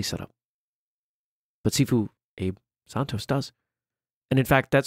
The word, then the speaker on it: Santos: vary a lot yes Santos Santos just like from Spanish yeah that's that's kind